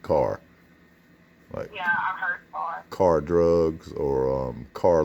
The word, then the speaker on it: Kerr: spellings but there's um there's a k-e-r-r people call it curb but most people from around here call it car yeah car drugs or